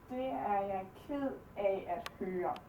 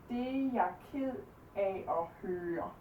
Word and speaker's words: Det er jeg ked af at høre: Det er jeg ked af at høre. Det er jeg ked af at høre.